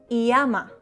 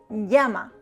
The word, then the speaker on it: llama: The double L, elle, is pronounced like ya, ye, yi, yo, you. It is not llama, it is llama.